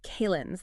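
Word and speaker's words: calends: It's almost described as a uh kalin's. That's c a l e n ds pronounced like calendar without the r and with the z sound at the end.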